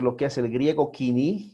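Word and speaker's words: koiné: nosotros vamos a ver el griego quini o como se escribe él codine pero se debe leer quini ok el 330 al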